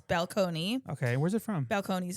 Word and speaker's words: Balcones: So we are gonna be drinking something from Balcones.